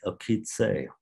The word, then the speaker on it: Okesa: Okitse, which is the Osage word or pronunciation of it.